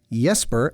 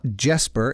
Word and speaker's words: Jesper: He's Danish, so that's Jesper, not Jesper, in case this is the first time you've ever heard it pronounced out loud.